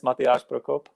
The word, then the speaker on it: Matyáš Prokop: actually pronounced so um my name is mattias brokope that's uh that's that's that's that's my name but like you know please call me matthias it's just way easier for everyone uh i'm i'm fine